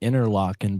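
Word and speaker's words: Interlochen: Really Mark in they pronounce it they pronounce it interlocking but that uh pop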